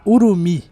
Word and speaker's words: Urumi: chicote do jogo, a Urumi. Sim, essa é a forma teoricamente correta de se pronunciar o nome dessa arma, já que é uma arma com origem indiana e é assim que eles pronunciam lá.